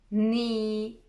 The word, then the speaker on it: knee: A K is not pronounced when it comes before an N, like knife, no, knee, knock, not.